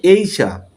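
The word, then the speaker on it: Asia: উচ্চারণ হবে এইশা। এইশা বাংলা হল এশিয়া। কিন্তু আমরা বলি সবাই এশিয়া। সঠিক ইংলিশ উচ্চারণ হল এইশা।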